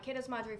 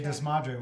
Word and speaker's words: Que Desmadre: the instagram handle uh catas madre food trip so i've been saying it wrong say it again okay does madrid which means what a mess all right see